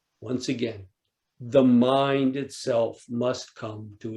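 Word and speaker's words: 無: The most famous koan, mu. Does the dog have Buddha nature or not? In Japanese, joshu, pronounced in Japanese, mu, or Chinese, wu, which means no, nope, doesn't.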